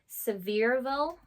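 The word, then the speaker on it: Sevierville: how to pronounce this severville so it's like honestly you wouldn't guess to pronounce it that way but it I looked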